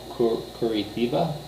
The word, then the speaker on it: Curitiba: to a city called Curitiba, but I think the pronunciation is so completely different in Portuguese because the T, they get kind of a ch sound to it, so I have no clue how to even pronounce it.